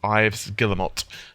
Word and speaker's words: Yves Guillemot: and utterly wrong but i believe it's pronounced ives guillermo that would be yves